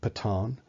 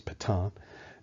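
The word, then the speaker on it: Pétain: the army a guy by the name of Patong that's how it's pronounced PE ta AI n is Pathan and he had been the the general at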